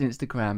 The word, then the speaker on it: Instagram: I'm with you on the emphasis on the last syllable of Instagram.